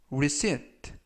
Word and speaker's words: receipt: 이번 표현은 receipt, receipt, receipt 라고 발음하시면 되겠고요. 이때 유의하실 점은 끝부분에 있는 알파벳 P가 이번 단어에서는 묵음이라서 발음이 되지 않습니다.